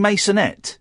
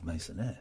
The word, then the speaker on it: mason: He didn't pronounce his T's. He doesn't know how to pronounce mason. He thought it was French. Well, it is, but he thought it was masonire. Like legionaire. All right, carry on.